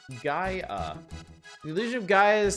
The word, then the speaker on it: Gaia: get it out of the way next month pronounced GA the illusion of Gaia is 16 megabits of